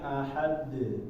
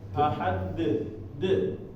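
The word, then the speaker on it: أحد: Maka dia dibacanya ahad. Dengan nyantai ya. Jadi kita kayak baca harokat da. Kita baca harokat da. Nah ini kita jadiin miring. Ahada jadi ahad. Bukan dia hentakan. Jadi kalau hentakan itu seperti ada remnya di sini. Ahad de. Nah, jadi ada remnya di ujungnya kayak ada hamzah.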